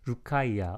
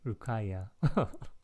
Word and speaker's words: Rukaiya: Rukaiya. Oh, thank you. Rukaiya. 고맙습니다. 루카이아님. Thank you for helping me to pronounce the name.